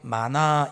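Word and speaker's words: מָנָה: 계수함이라고 하는 단어는 하나 둘 숫자를 센다라는 의미도 있지만 히브리어로 마나 이렇게 발음을 하거든요.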